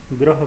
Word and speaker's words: ग्रह: पैर में र लगाकर ग्रह बना है। इसके उच्चारण में भी प्राय बच्चे गलतियां कर जाते हैं, लेकिन आप इसे उच्चारण शुद्ध कीजिए। पहला शब्द है गृह और दूसरा शब्द है ग्रह।